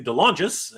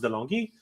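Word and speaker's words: De Longis: Uh sorry, Anthony Dongis as uh I found out that's actually how you pronounce his name. I don't know. I'm from Canada. We speak French. So I thought it was D Longi, but apparently it is Dongis.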